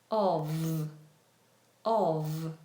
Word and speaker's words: of: So, when we see Of, we pronounce the F as a V. Of of.